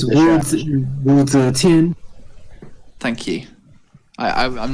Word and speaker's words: Zetian: To be fair, is it pronounced Zishan? I always say Zetian. It's Wu Zetian.